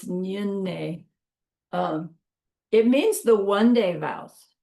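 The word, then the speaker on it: Nyungne: Nyunne. Looks like Nyenne, but it's Nyunne.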